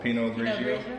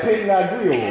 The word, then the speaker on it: Pinot Grigio: That's how you pronounce that? What? Chardonnay? No. Pinot Grigio.